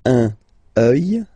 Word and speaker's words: œil: Un œil, des yeux, okay? Don't pronounce the final x as usual.